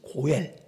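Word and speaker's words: גואל: 기업을 물를 자라는 말은 히브리어로 고엘 발음이 고엘이래요. 고엘 이게 기업을 물를 자란 뜻이에요.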